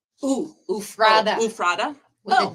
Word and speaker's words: Ephrata: Stacy Dunnigan from Ephrata, Washington. Ooh. Ephrata. Tell me. Ufrada. No, it's Ufrada Ephrata.